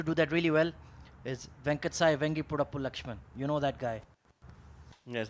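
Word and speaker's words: Venkata Sai Vangipurapu Laxman: battle used to do that really well is venkatesai vengi purapu lakshman you know that guy yes that's right very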